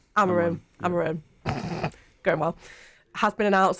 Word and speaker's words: Amorim: Have I pronounced that correctly? Amorim.